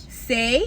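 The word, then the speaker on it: Saie: How do you say that? S-A-I-E. S-H-I. Do you know the brand? Say.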